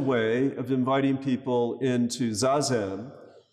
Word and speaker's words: Zazen: And his gentle way of inviting people into Zazen, which is in fact the Japanese pronunciation with an extra syllable, Zen, is from the Sanskrit dhyan.